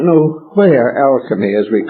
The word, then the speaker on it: alchemy: it today, originated, but the present word is derived from two comparatively recent terms, the word chemistry and the ancient Hebrew and Greek and Egyptian syllable El. Alchemy. El is a name of deity, Elohim, and many others.